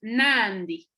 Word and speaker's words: Nandi: Y por ejemplo, vemos Nandi, Nandi, que quiere decir mamá, la I se pronuncia algo débil, Nandi, Nandi.